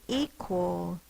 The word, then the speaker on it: equal: E, that's an open syllable. In other words, a single vowel at the end of the syllable. That's the only thing in the syllable, so it is long. E, qu, is the schwa, spelled with an A.